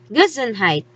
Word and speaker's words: Gesundheit: that is a funny looking word which is pronounced gizenheit it is the german word that we show